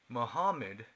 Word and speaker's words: Muhammad: number two Muhammad Muhammad Muhammad is the original pronunciation Muhammad born in Moravia